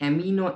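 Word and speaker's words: amino: अमाइनो acid क्या है? बहुत कोई इसे एमिनो एसिड भी प्रोनाउंस करते हैं, सो गो एज यू लाइक।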